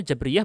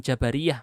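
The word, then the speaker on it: Jabriyah: sini itu staba al-jabariyah cara bacanya chhabria bukan Jabariyah masih banyak yang salah di jurnal-jurnal ilmiah di Indonesia ya bukan Jabariyah tapi Jaber Iya kelompok chhabria ini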